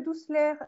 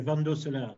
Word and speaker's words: Van Dosselaer: Donc, Monsieur Douceler, est-ce que je prononce bien votre nom? Vous pouvez vous exprimer. Bonjour, c'est Van Dosselaer.